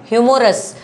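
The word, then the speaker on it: humorous: ह्यूमोर ह्यूमो ह्यूमोरस यह भी रॉन्ग है। आप प्रोनंसिएशन करेंगे ना आपकी स्पेलिंग टेस्ट कोई स्पेलिंग वर्ड तो कोई गलत हो ही नहीं।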